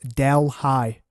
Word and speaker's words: Deli: It is spelled like Deli the place. However, I've heard from the band and they've told me that it's actually pronounced Del High. So Del High, not Deli.